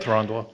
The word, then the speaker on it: Thranduil: to buy a book version Surge foil of Thranduil. Is that how you say it? Yeah, it sounds like Thranduil.